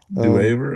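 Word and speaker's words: Duever: Dwaver. It looks like Dwaver. Yeah. D E A Wait, spell it again.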